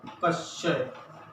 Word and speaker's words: क्षय: और अगर हम जैसे मान लो दूसरा ये क्षय, जो टीवी रोग को कहते हैं, तो क्षय। अब इसको बोलेंगे, ये ऐसा ही बना है ना, कश्य।